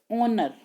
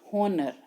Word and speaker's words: honor: it is not pronounced honor, it is pronounced honor. So हम इसके सामने क्या लगाएंगे? Article N. In spite of its spelling, the word honor begins with the vowel sounds.